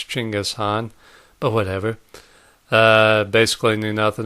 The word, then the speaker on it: Chinggis Khan: I guess I had heard of Chinggis Khan, which is how you properly pronounce it, by the way. The French archaeologist who gave us Genghis Khan was actually mispronouncing it, so it's Chinggis Khan, but whatever.